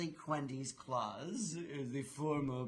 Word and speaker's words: Cuhendis Klaas: And it's Cuhendis Klaas, is the formal pronunciation of her name.